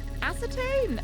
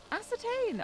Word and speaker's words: ascertain: Ascertain! Oh, is that how it's pronounced?